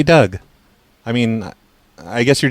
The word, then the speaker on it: Doug: Douge? No, I said it's Doug. Like Doug. It's spelled like Doug, stupid.